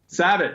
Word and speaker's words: Sabat: not mutilate your name so it sabot you nailed it right right finally tell people it rhymes with rabbit there we go on